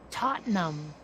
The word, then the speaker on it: Tottenham: that the um like the british towns that end in ham but are pronounced hum oh yeah you know tottenham and all of those